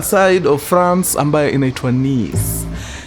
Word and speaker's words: Nice: Leo tunasafiri moja kwa moja mpaka a very beautiful city in the southern side of France ambayo inaitwa nieise. Wengi mtaipronounce nice lakini ni.